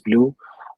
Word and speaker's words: BLEU: For BLEU, I think it's pronounced as blue.